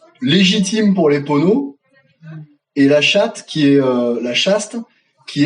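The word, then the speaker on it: La Châtre: opposer le compte de la chaste ne rigolait pas il s'appelle conte de la chaste et ça se prononce contre de la chatte et les les ponots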